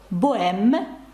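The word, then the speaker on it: bohème: не читаються наприкінці слів тобто слово боем Богема ви бачите пишеться з напри кінці але ця літера не читається згадайте ну каву яка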